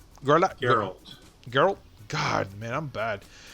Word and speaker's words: Geralt: Henry Cavill, who plays Garlet, if I'm saying it right. Garlet. Geralt.